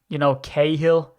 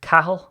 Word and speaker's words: Cahill: Irish surnames, Cahill. Wrong, it's Cahill. That's how it's actually supposed to be pronounced here back in the motherland.